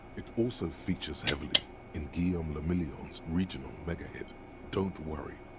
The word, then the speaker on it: Guillaume le Million: Guillaume le Million. Damn. Damn. If it doesn't rhyme, you're not pronouncing it right.